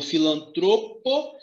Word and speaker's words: filantropo: que faz mal então filantropo e misantropo são palavras paroxítonas com acento ou a